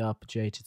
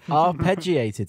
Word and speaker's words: arpeggiated: opener I like the arbitrated synth or some people would call it yanny I said it wrong didn't I yeah you did arpeggiated synth or as some